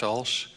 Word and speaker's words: Ulsh: submission which is an old presentation from dr walsh you can pronounce it right yes as outlined in cmd 15h 2.120 dr bush the flow is yours thank you president bender good afternoon my name is alsh and i would first like to thank the